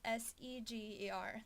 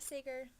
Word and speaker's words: Seger: you, it's hashtag AskSeger, which is Seger. That's my last name. It's not Seger.